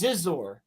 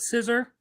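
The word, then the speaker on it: Xizor: I was just talking about Scissor. No, Zizor. So, it's spelled it's spelled X I Z O R.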